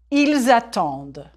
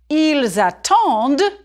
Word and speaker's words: ils attendent: J'attends, tu attends, il attend, nous attendons, vous attendez, ils attendent. Il attend, singulier. There's no E after the D, so you don't say the D. Ils attendent, pluriel. Here you hear the D.